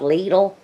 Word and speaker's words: Lidl: store that opened up near us it's called Lidl and yes I did look up the pronunciation and that's how you say it it's